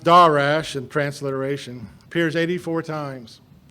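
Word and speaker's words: דָּרַשׁ: or h1 sorry h1875 sorry and it is pronounced da rash and transliteration appears 84 times it is mostly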